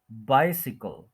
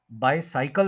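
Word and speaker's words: bicycle: इसको सिकल बोलेंगे सिकल बाइसिकल बाइसिकल बाय सी कल बाइसिकल बाय साइकल नहीं बोलेंगे थ्री सिलेबल्स है फर्स्ट के ऊपर स्ट्रेस है बाइसिकल य भी सुन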